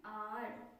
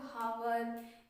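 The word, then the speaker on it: hour: ठीक है, an honest man, एन आर। ठीक है, इसको बहुत से लोग हावर या आवर पढ़ते हैं, ऐसा बिल्कुल नहीं, आपको प्रोनाउंसिएशन भी करेक्ट करना है। ठीक है, सही प्रोनाउंसिएट करना है, एन आर।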